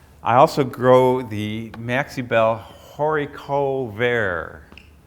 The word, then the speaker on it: haricot vert: I also grow the Maxibel Haricot Vert. It's a French variety. It's pronounced Haricot Vert.